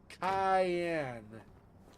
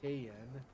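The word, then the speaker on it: cayenne: comes from America apparently cayen cayen not kayen poor animal has been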